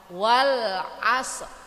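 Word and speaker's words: وَالْعَصْرِ: seperti itu bu ya huruf yang akhir itu kita matikan tapi ada seakan-akan huruf rnya tidak kita keluarkan kan Wal Asri kan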